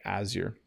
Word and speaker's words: azure: Yes, it's definitely a bright blue color, like a cloudless sky, azure. And then should I check the pronunciation?